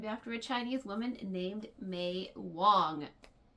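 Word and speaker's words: Mei: Yes, I was named after a Chinese woman named May Wong. But it's still pronounced like that month.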